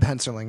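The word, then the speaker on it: Hensarling: Correct me if I'm pronouncing that wrong. I'm not good with names. So. Jeb Henserling.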